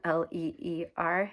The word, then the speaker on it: leer: It looks like leer, L-E-E-R. It's leer, 2 syllables.